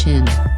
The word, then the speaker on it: Qin: The most famous wall was built between 226 and 200 BC by the first emperor of China, Qin Shi Huang, Qin pronounced as Qin, during the Qin dynasty.